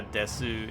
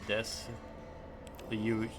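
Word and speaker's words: です: So, it's like how desu is two syllables in Japanese, but lots of people say des you use just kind of like the ending noise.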